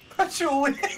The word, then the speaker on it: Patchouli: Patchouli.